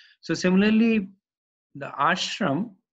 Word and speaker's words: ashram: So similarly, the ashram, that there is a long A in front of shram.